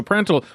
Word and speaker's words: Prandtl: Am I pronouncing the name of the company properly? You are. I am. Yes. Okay, excellent. So Prandtl, what exactly is it that you've created here, and how would it be used?